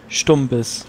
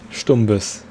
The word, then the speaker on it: Stumbis: Ich hätte gesagt, eigentlich wäre die deutsche Aussprache richtig als mit ST wie bei Stuhl. Und das U? Das U als U. Also Stuhl, Stumbis. Stumbis.